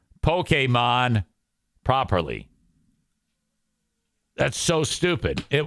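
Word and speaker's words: Pokémon: Mike failure and not knowing how to say Pokemon properly that's so stupid it was a mistake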